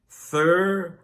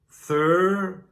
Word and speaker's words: thorough: It's pronounced with 2 syllables. Thorough. Thorough. A little faster. Thorough.